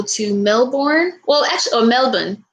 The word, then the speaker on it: Melbourne: melbourne well actually or melbourne i know you're not supposed to pronounce the r it's not like melbourne like we do it's melbourne right i think for australians but i really want